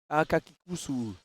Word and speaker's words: Akakikusu: Là je prononce mal Akakitsu, ah ouais? Akakikusu. Ah, il y a un Kikusu, c'est vrai. Je vais le dire Akakikusu.